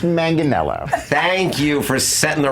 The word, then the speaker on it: Manganiello: what's going on with you remember Joe Manganiello pronounced Manganiello thank you for setting the record straight Daniel